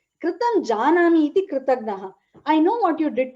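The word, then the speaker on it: कृतज्ञ: Again, how pronunciation is very important. Kritagna alpa prana, which is not the alpa prana, it's actually the jna, jnanam jna, right?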